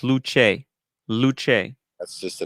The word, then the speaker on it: Luce: Luce, pronounced Luce.